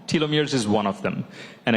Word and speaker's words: telomeres: We hear a lot about gene therapies, telomeres, that's how you say it, yeah.